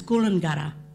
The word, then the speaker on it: Coolangatta: jungle at TJ jungler Coolangatta is Coolangatta because D is T is pronounced like a D Coolangatta P is pronounced